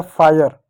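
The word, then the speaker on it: fire: हो गया फायर। ई क्या? ई साइलेंट हो गया।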